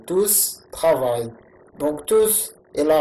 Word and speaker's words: tous: Les élèves sont maintenant silencieux, tous travaillent, donc tous, le S s'entend à l'oral, tous travaillent.